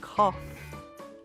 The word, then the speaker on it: cough: at the end of the word like laugh and cough we often say the g h has an F sound like f aha now